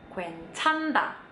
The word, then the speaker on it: 괜찮다: Kalau ada huruf N sama H barengan kayak gini, yang mana yang dipilih? Bener, yang N-nya. Jadi ini dibacanya 괜찮다. 괜찮다.